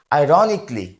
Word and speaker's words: ironically: সি এই এল এল ওয়াই এটাকে আমরা অনেকে আইরনিকালি বলি এটা ভুল উচ্চারণ এটা সঠিক উচ্চারণ হবে আইরনিকলি আইরনিকলি এবং এর বাংলা অর্থ হচ্ছে হাস্যরসাত্মকভাবে এরপরটা